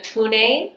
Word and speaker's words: Pune: So right now I am in Pune, which is the traditional pronunciation of Pune or Pune.